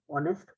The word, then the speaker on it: honest: answer will be an honest person okay it will be an honest person because the word honest okay begins with the o sound the H is not pronounced is an honest